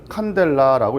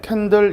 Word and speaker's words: 칸델라: 단위는 CD라고 쓰는데 읽을 때는 칸델라라고 읽어요. 원래는 촛불에서 어원을 땄기 때문에 캔들 이렇게 부르는 사람도 있어요. 캔들이라고 해도 되는데 보통 그냥 칸델라라는 말을 많이 씁니다.